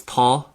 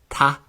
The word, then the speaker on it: tá: So while I would say these words as tá, lánún, and go horithe, in Ulster they'll be pronounced really as if they don't have the fada. So it's going to be ta, lánún, and then gahairaha.